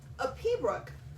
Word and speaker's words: piobaireachd: A Pea Brock, which is spelled Piobaireachd, is a Gaelic word basically meaning pipe music.